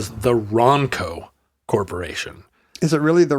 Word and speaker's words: Ronco: Ronco Ronco Ronco Ronco I think you have to hit the n a little bit harder it's not Ronco you do you don't want it to rhyme with uh Bronco no it's Ronco do you say Bronco